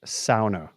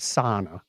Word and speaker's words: sauna: right way no no say it like the locals who invented it that's my motto it's